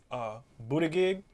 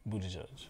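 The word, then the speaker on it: Buttigieg: shows Hickenlooper Ainsley Delaney Budda gig he pronounced it bougie judge my bad mood there's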